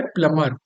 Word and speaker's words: plumber: ध्यान रखना, ये है प्लमर। प्ल कैसे लिखेंगे? प्लमर, प्लमर। इंग्लिश जब स्पेलिंग लिखेंगे तो प्लम्बर होगा, बी इसमें साइलेंट होता है। ओके, बी जो है, बी को नहीं पढ़ते हैं, बी साइलेंट होता है।